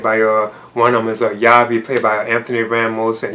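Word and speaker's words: Javi: And Anthony's character, known as Yavi, that's how you pronounce it, he shows up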